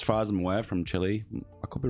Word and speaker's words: Chile: It's another dev diary, and it's Chile. Chile. In the UK, we call it Chile, but I know Americans say Chile.